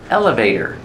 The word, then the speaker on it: elevator: the elevator let's go elevator pronunciation elevator put the stress on the first syllable elevator and the t is pronounced as a fast D elevator eight or eighter elevator we're taking the